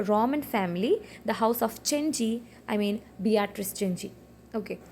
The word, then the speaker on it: Cenci: Next we shall discuss about the work Cheni. The Cheni is a tragedy in five acts. Okay. See the pronunciation it is not sensei. C sound is often pronounced in Latin as ch.